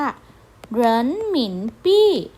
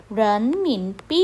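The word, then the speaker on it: 人民币: คะ คำ ที่ 7 นะ คะ คำ ว่า เหรินหมินปี้ เหรินหมินปี้ นะ คะ ก็ จะ เป็น สกุล เงิน จีน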